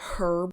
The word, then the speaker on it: herb: In America, when we say the word herb, we say herb. Britain, they say herb, which makes more sense.